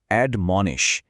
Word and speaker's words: admonish: এর উচ্চারণটা হল অড মনে।